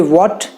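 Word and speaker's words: what: When, where, weather, while, तो टू my surprise also इनमें एच नहीं प्रोनाउंस किया जाता, सो it should be वॉट, where, when, school, while, वाइट, वाइट में भी ह नहीं बोला जाता, वाइट, वेदर।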